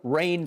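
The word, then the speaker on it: Reign: giving my man dakota rain prescott and i'm going to spell that middle name r-e-i-g-n rain as in rain over right it didn't happen yep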